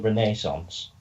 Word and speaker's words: Renaissance: pronounce it wrong but it's actually called the Renaissance cuz it's French it's like I tell